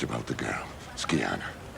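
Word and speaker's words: Scianna: it's about the girl skana skana is how you say it you must be very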